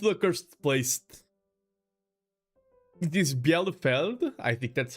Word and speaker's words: Bielefeld: It is Bielefeld. I think that's how it's pronounced, or Bielefeld.